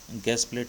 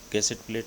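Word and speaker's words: gusset plate: इसको वैसे इसके बहुत प्रोनाउंसिएशन है, ये फ्रेंच वर्ड है, ये अपन यहाँ इसको भी गैस प्लेट नहीं बोलेंगे, ये जो गैस प्लेट कहेंगे इसको, वैसे गैसेट प्लेट है।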